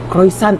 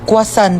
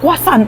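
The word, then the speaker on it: croissant: Croyant daw. Croisant? Ah quasant po. Ay croisant. Kwasan.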